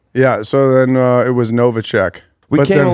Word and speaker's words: Newacheck: Newacheck. Newacheck.